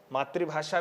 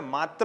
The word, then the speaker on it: मातृ: ऋ से ऋषि है, इसलिए हमें मात्र नहीं बोलना है। क्या बोलना चाहिए? मातृ।